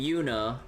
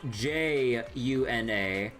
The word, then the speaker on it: Juna: And then like, and then there's like in Trails, there's like a character named Yuna, but spelled J U N A, but then there's a fortress location spelled J U N O, but that's pronounced Juno.